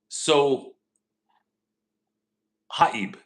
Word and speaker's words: Sohaib: So Haib. So Haib. Let me try. So hi. My bad. So Haib. Did I pronounce it right?